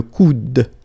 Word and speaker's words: coude: one here is le coude. Okay, remember, you don't insist on this final E, it only gives you the sound of D at the end.